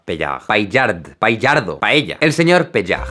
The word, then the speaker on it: Paillard: Le pido a mi primo que lo pronuncie para no arriesgarme. Jean-François Paillard.